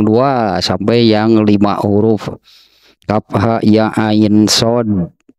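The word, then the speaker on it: كهيعص: sampai yang lima huruf Kaf ha ya ain shod Ya seperti itulah pengucapannya gitu ya Kaf ha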